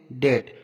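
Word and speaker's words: debt: है एग्जांपल देखते हैं डेट यहां पर देखो टी से पहले बी आया तो यहां पर भी साइलेंट रहेगा नेक्स्ट एग्जांपल देखते हैं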